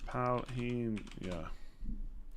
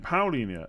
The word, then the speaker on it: Paulinho: Paulinho. It sounds the same. The guy on YouTube says Paulinho. You said it right the first time.